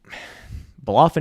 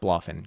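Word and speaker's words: BloFin: Anyways, Bolofin is pro is pronounced Bloffin.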